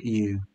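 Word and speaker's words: ewe: why isn't it and you it's spelt with an e but it is a you hey you so what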